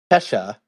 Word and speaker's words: Tesha: Her name is Tesha, like Kesha, but with a T, and so she said, "Happy birthday, Tesha," like Kesha, but with a T.